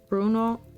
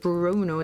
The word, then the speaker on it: Bruno: it how do it pronounced Italian Bruno it's not Bruno the r is that's a very English R Bruno Bruno porati it's